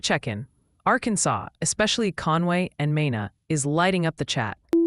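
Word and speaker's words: Mena: Multiple viewers are suggesting it's Mina, Arkansas, New Madrid, Missouri, and Oayan County. TN.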